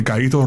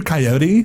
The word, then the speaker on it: Gallito: And when I moved to North Carolina, some people it's hard to pronounce Gallito. Like, are you Coyote? Like, no.